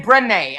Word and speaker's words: Brenay: Brenay.